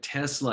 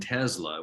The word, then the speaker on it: Tesla: It's like Tesla and Tesla. We asked the people there how to pronounce it. They said either.